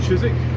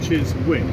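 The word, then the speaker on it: Chiswick: towards the direction of chisik and to all our American friends it's pronounced chisi and not chis wi we're heading along the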